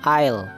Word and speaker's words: aisle: is the first oil ya tulisannya aisle Tapi bacanya Il artinya adalah Gang atau